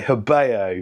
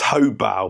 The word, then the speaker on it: Hobao: today this is the hyper SS truy by habo it's actually pronounced hobal but I've been saying habo for like years so we'll just continue with